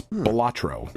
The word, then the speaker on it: Balatro: looked it up, and apparently it comes from the Latin word for jester or buffoon, so a joker card. It's Balatro.